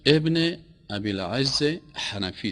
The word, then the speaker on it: ابن ابی العز حنفی: علامه نام درستش ابن ابی العز حنفی است، همین قسم تلفظ میشه.